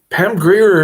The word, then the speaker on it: Grier: spell Pam Greer just like it's uh pronounced gr i e r all right Pam Greer is in the description